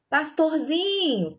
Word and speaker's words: pastorzinho: Pastorzinho, pastorzinho. Foi o zin. Então, a sílaba tônica aqui na letra B, né, respondendo a letra B, é o zin.